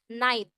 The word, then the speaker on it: night: night Iya betul banget cara bacanya adalah night jadi langsung ke huruf t-nya ya g sama h-nya enggak usah dibaca enggak naik gitu enggak